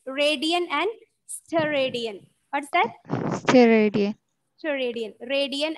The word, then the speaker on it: steradian: Radian and steroid. Radian and Steroid. it's pronounced radian and steradian.